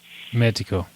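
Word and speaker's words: médico: Magico. Is the O pronounced magical? Magical. Yes. Okay. It's almost you almost say like a U would be in Portuguese. A U at the end.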